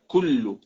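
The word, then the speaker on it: كُلّ: Agora, quando eu disse assim, kullu aya, kullu, ku, que é similar ao ka, que o que, o ka, que a gente pronuncia no português.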